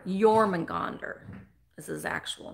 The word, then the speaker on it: Jormungandr: His actual name is Jormungandr. Jormungandr is his actual name.